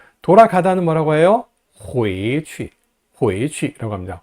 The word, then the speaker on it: 回去: 回去, 回去라고 합니다. 回去하고 취를 강하게 내지 말고요, 약하게 발음합니다.